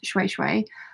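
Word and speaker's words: shweshwe: Diana says, today I'm making a handbag from African shui shui, pronounced shui shui.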